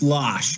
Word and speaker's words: Loesch: Is it Loesch or Losh? Pronounced Losh, Commissioner Leinbach. Losh.